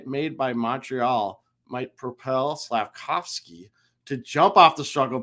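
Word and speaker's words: Slafkovský: say was it yage slavkovsky I always want to say see I always want to put I want to get rid of that V SLA kovski slav kovski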